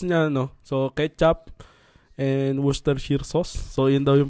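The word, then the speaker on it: Worcestershire: tayo ng sauce niya Nono so ketchup and wooster sheer sauce So yun daw yyung pronunciation niyan sabi nung teacher ko n sa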